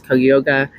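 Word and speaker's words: Cuyahoga: was facing rape charges forgive me if I'm not pronouncing this right but I think it's koyoga it's uh c u y a h o g a County Common Pleas Court so let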